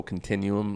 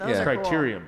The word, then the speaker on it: criterium: but it's crazy there was a little local continuum like bike race here in town and that was cool create correct criterium yeah yeah criteria yeah i said it wrong